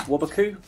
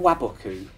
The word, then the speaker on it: Waboku: And yeah, I guess that's it because you use Wabaku. Is it pronounced Wabaku or Waboku? Waboku. I always just say Wabaku.